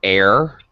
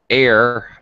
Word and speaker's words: heir: be careful miriam pronunciation air and air you don't pronounce the h all right air or